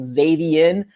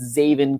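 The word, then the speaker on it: Zaven: other than zavin collins now i was completely aware i was saying his name wrong the whole time i was saying xavienne but it's not xavien it's zavin collins um linebacker out of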